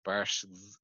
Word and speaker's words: Barszcz: It's BARSZCZ, like Barsh.